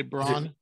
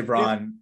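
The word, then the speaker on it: Braun: list Christian uh Brown I always want to say brown yeah I always say Bron but it's brown uh at least the way he wants to pronounce it um what did you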